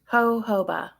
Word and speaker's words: jojoba: Jojoba. Oh, so the J is pronounced like an H.